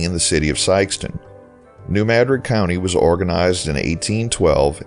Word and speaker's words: New Madrid: The pronunciation at some point was anglicized to New Madrid.